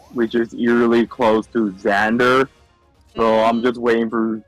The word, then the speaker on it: Xander: the V and because Xander is you can act but it's pronounced like a z it's very easy I